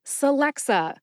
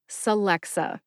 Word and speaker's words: Celexa: bring up Alexa because the drug name Celexa sounds similar to Alexa what a fun conversation right just add an S to the beginning of the name Alexa and you have Celexa Celexa the written pronunciation that